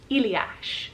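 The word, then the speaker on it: Ilias: but with an eye iliac is the way that they pronounce it over in greece moving back on up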